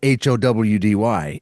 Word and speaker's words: Joudy: So, the name of the band is not H O W D Y. It is J O U D Y, which in Spanish is pronounced Howdy.